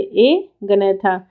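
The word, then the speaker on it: Agnatha: एक है ए गनैथा, ठीक है, प्रोनाउंसिएशन पे ध्यान रखिए, ए गनैथा।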